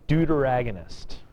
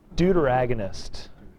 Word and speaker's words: deuteragonist: This is one of my favorite words to pronounce. It's a deuteragonist. See, I'm glad you laugh. Some classes look at me like I'm crazy. Just the word deuter is kind of fun. Deuteragonist. All right? Deuteragonist, the second actor.